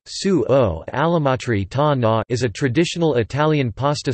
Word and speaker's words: sugo all'amatriciana: Sugo or salsa all'amatriciana, Italian pronunciation, sugo all'amatriciana, is a traditional Italian pasta sauce based on